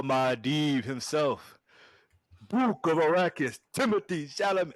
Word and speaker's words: Timothée Chalamet: And then Paul Mahdeev himself, Book of Arrakis, Timothée Chalamet. Well, actually, it's pronounced Timothée Chalamet.